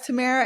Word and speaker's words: Tamara: is often mispronounced um my Tamara is often mispronounced people like Tamara Tamara like even like I can introduce myself as Tamara and then somebody will immediately start calling me